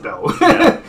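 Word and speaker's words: Bael: specific way it's spelled i write it as b-a-e-l it's pronounced bell i sometimes write it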